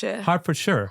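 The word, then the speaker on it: Hertfordshire: what's the name of the C it's hardford Harford Shire Harford Shire yeah Harford Shire Harford Shire uh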